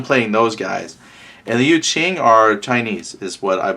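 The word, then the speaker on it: Yu Jing: One of the pronunciation guides said that the J is a ch sound, so Yu Qing.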